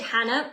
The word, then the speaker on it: Janna: So it is said Hannah, it is spelt Janna. If you call me Janna, I'm not offended. I'm used to it.